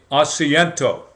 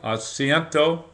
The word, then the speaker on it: asiento: we call that it's called the acento I may not be pronouncing everything correctly but a s i e n t o the asento uh there are really